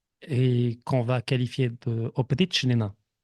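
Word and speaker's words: опричнина: Son domaine qu'il va agrandir et qu'on va qualifier de Oprichnina ou Aprichnina, parce que le O se prononce A des fois en russe, ça va être le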